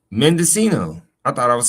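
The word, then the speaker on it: Mendocino: pronunciation. Mendescino. Oh, I said it right. Mendescino.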